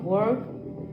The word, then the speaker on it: work: in life, like remote work, virtual Pronounce that word? virtual meetings and online learn, like remote work. You hear? Work. I can't really hear the k.